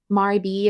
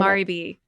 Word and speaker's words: Maribel: it was um I'm going to say her name wrong. How how should I say her name? Maribel is the way I've always said it. Maribel.